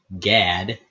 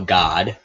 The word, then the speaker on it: Gad: Levi Juda Dan naftali Gad well God depending on how you want to pronounce that Asher isachar zebulun Joseph